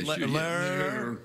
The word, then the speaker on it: Lehrer: Now, the host of the debate tonight was Jim Lehrer. Is that how you say it, Jim Lehrer? Yeah, Lehrer. He's got an H in there.